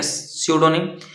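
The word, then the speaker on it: pseudonym: किसी को पता है क्या सडोनिम पी साइलेंट है यहां पे ठीक है सडोनिम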